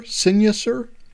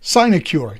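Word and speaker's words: sinecure: um because it's become how do you pronounce synecure sinuser a signature sign a cure there we go that's the pronunciation I I think um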